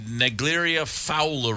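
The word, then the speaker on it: Naegleria fowleri: of years there's uh the negeria Fowler I believe is how you pronounce it but it's the brain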